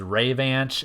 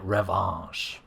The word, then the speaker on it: Revanche: Revanche, which I always pronounced as Revanche as a kid because I'm just very literal that way. But knowing that it's a French word meaning revenge, it's safe to assume that it's likely supposed to be pronounced like Revanche.